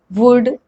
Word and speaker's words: would: the rule first l is not pronounced when it comes after vowels a o and u let's look at some